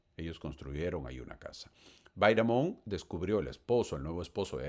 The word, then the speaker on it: Bidamon: casar y se casó con Lewis Bidamon, o Bidamon, como quieran pronunciarlo, como quieran escucharlo.